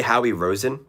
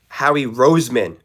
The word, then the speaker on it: Howie Roseman: Did he just say Howy Rosen? Howie Roseman?